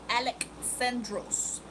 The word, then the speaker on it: Alexandros: It's Alexandros. And it is Greek.